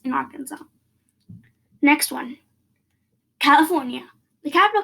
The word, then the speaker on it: Arkansas: So in Arkansas, when you pronounce Arkansas, the S in Arkansas should not be pronounced because that's a rule in the state. So yeah, no pronouncing S in Arkansas.